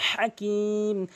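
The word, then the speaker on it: حكيم: লামজ নিল হাজ জবর হা অবশ্যই হলকের মাঝখান থেকে উচ্চারণ করবেন অধিশক ভুল করে বলে হাকিম বলতে হবে হাকিম কিম কি করলে বলবেন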